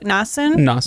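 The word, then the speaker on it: Nassun: essen and we have how did they pronounce it in the audiobook nassen okay um her daughter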